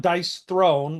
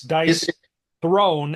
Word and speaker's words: Dice Throne: seven dice Throne Marvel so that's not dice Throne like a chair made of dice that's dice thrown as in throwing the dice dice who would spell